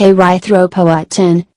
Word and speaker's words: erythropoietin: produce a hormone called erythropoietin pronounced a writhe ropo attend which tells the body